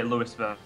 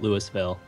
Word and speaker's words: Louisville: that I live in, we have a city called that, you know, is spelled the same way. But in Nebraska, they call it Louisville. But if you're in Kentucky, it's Louisville.